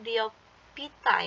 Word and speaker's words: Bryophyta: Ini bacanya Bryophyta ya.